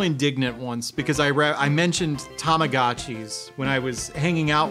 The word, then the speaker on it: Tamagotchi: And he corrected my pronunciation. He's like, "Oh, it's Tamagotchi," and I was just like, "Son of a!"